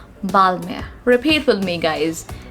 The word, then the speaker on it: Balmain: world but hey what how are we going to pronounce it balmain no not at all it is going to be balmy b-a-l-m-a-h we are not going to pronounce pronouns n over here and is going to be silent and we are going to pronounce it as balmer repeat with me guys